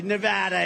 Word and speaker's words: Nevada: You know the state, we love it and you always have to say it correctly. Nevada. You got to call it Nevada.